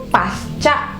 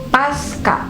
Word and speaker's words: pasca: Karena kan memang huruf C atau bunyi C yang ada pada kata pasca itu harus diucapkan C, tidak diucapkan K.